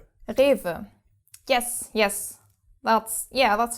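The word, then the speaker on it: Rewe: And then the W pronounced like a V. Like a V. Yeah. Rever.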